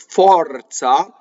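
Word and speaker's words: forza: versus the next word, fɔrza, which is aw, like AW in English, like I saw, right, without the glide.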